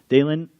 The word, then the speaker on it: Dalen: Dalen, because it rhymes with Dylan, kind of, you're awesome, okay?